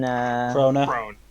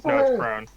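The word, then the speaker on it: Krone: lady who comes in, Krona. Crone. Is it not Krona? No, it's Crone.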